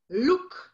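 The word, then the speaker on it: Loek: Luke.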